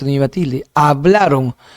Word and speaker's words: hablaron: Hablaron no es hablarón es hablaron.